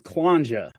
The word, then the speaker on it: Kllanxhja: So, my last name is Quanja. Um it rhymes with ganja, right?